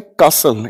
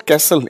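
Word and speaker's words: castle: ठीक है, ए for Apple को प्रोनाउंस करें कासल, इट इज नॉट कैसल, इट्स कासल।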